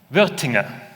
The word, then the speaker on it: Wuerthinger: And how do you pronounce the name? Wuerthinger.